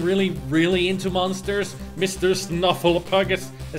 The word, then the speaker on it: Snuffleupagus: snuff pull up progress snuffleupagus that's the way snuffleupagus that's how you pronounce it yeah as long